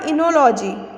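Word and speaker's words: Oenology: फिर है आपका इनोलॉजी। क्या बोलते हैं इसे? इनोलॉजी। ओ जो है इसका वो साइलेंट है।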